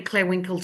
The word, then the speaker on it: Clare Winkel: There's not many Clare Winkels on LinkedIn. I'm in Brisbane, Australia, and my name is spelled CLAREWINKEL.